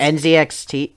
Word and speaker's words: NZXT: I also forgot to mention that I also have an Next case, which is spelled NX N fuck I N can't NZXT NZXT.